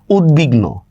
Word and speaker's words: উদ্বিগ্ন: সন্ধি পড়ছেন এ টাইপের উত উপসর্গের পরে বফলার উচ্চারণ বহাল থাকে উত উপসর্গ দেখেন উদবাস্তু দেখছেন উদবাস্তু উদ কিন্তু একটা উপসর্গ যেটাকে আমরা প্রিফিক্স বলি উদ্বিগ্ন ঠিক আছে বফলার উচ্চারণ বহাল আছে উদ্বিগ্ন তা আমরা কিভাবে লিখব